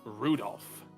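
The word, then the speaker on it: Rudolf: That mess of characters is pronounced Rudolph.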